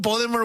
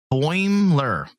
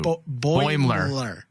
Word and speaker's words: Boimler: No, Boimler. There's not 3 syllables. 2. Boimler.